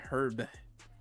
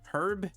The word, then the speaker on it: herb: gets us the green herb herb herb you can pronounce it both ways cool treasure hunting right